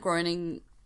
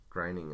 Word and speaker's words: Groening: The new Matt Groening... Groening, I think you pronounce it.